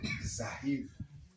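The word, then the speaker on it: זַיִן: Zahir. Zahir. Et il faut le prononcer tel qu'il est. Zahir. Zahir. Zahir. Il faut qu'on sente que, Zahir. voilà, qu'il y a la puissance dedans.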